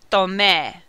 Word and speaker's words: tomé: For AR verbs, the endings are going to be E with an accent, aste, o, amos, aron, and this yo form is pronounced E. So, yo tomé means I took.